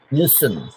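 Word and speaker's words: listen: ghost story लिसनिंग लिसनिंग लिसन है ना टी वहां पर साइलेंट हो जाता है लिसन लिसन लिसनिंग स्टोरी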